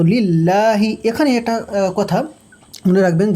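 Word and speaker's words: لله: তো লিল্লাহি এখানে একটা কথা মনে রাখবেন যে অনেকেই এই লিল্লাহ লামের জায়গায় র ব্যবহার করে। র মানে লিল্লাহটা লিল্লাহ বলে অনেকে। এটা এটা মনে রাখতে হবে যে লিল্লাই হবে। মানে আল্লাহর জন্য আর জন্য লাম ব্যবহার হয় আরবিতে। র ব্যবহার হয় না ঠিক।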